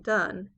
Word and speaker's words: Donne: to the restoration area his name was John Donne pronounced done and he's known as